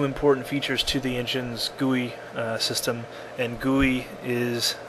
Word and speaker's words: GUI: added uh two important features to the engine's guey uh system and guy is um kind of the official pronunciation of GUI which stands for graphical user